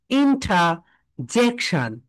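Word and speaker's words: interjection: এটা হচ্ছে British sound, সবাই একটু লিখে রাখো। ইন্ট্রাজেকশন ব্রিটিশ সাউন্ড, সবাই বলো ইন্ট্রাজেক, জেকশন। অ্যান্ড আমেরিকান সাউন্ড হচ্ছে ইন্টার বলো, ইন্টার, তারা আর এর প্রোনাউন্সিয়েশনটা করবে ইন্টারজেকশন, ইন্টারজেকশন বলো ইন্টার, অর্থাৎ তারা আর এর প্রোনাউন্সিয়েশনটা করবে, এন্ড ব্রিটিশরা আর এর প্রোনাউন্সিয়েশন করবে না।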